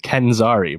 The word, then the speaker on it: Kenzari: Come on, pronounce these right. Kenzari, bro.